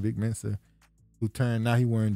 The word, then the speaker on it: Vic Mensa: But people kept bringing up the thing where he got checked by Vince Mensa, how you say his name? Vic Mensa, who turned, now he wearing dresses and stuff.